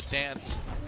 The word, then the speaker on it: DNCE: DoA though finding the kill onto Dance. DNCE, we're told it's pronounced Dance. Yeah.